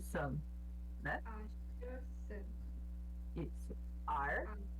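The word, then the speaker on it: 二: Ar, que é 2. Ele é no quarto tom, no caso.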